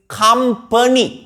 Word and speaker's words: company: Not penny. The correct pronunciation is company.